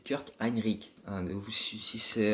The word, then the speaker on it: Kirk Hinrich: ce sera kirk hinrich attention la prononciation je sais qu'un inquiète pas trop c'est pas kirk hinrich c'est kurt heinrick un nouveau su si